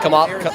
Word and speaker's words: Kamala: Yeah, Kamala. Sorry, my bad. Kamala.